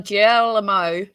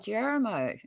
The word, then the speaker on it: Guillermo: Oh, Guillermo. As in, it's Guillermo? Yeah, it's Guillermo. Italian. No, Spanish, Latin American.